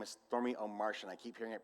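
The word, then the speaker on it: Stormie Omartian: And her name is Stormy O'Martian. I keep hearing it pronounced Stormy O'Martin, but it has an extra I, so it's Stormy, it has an A, so it's Stormy O'Martian.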